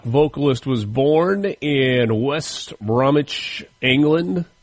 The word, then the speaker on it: Bromwich: The British rock vocalist was born in West Bromwich, England. I'm assuming that the W is silent there.